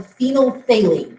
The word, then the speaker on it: phenolphthalein: or not if you have a substance called phenolphthalein that's how you pronounce that weird-looking word and it's a clear